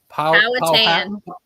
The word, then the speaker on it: Powhatan: Powhatan.